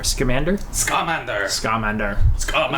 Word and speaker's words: Scamander: Scamander. Scamander. Scamander. Scamander. Scamander. Looks like salamander.